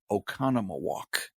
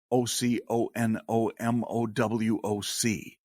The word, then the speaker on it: Oconomowoc: outside of also a suburb of Milwaukee is Oconomowoc ocon om o wo c Oconomowoc Wisconsin and people will murder that all